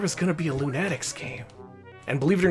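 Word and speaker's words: Loonatics: There there was going to be a Lunatics game. And believe it or not, despite how it's spelled, it is pronounced Lunatics because that's how they said it in the cartoon.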